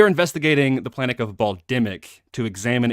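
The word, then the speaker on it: Bal'demnic: I pronounce it as Bal dimnik is it Bal dimnik I don't know you choose uh what do no what is it will the the N you do not pronounce in terms of the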